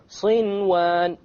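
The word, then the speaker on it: صنوان: There's a noon sakin followed by a waw. Sinwan. Sinwan. You pronounce the noon. In this case, the ruling would be idhar. You make it clear. Okay? Without any ghunna, you make the noon clear and you move on.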